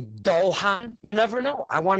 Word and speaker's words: Dojan: Am I saying Dojan? Do you pronounce it with the J? Yes, you are. You got it correct. Most people say it wrong, but you nailed it. Well, it could be, yeah, it could be Dohan.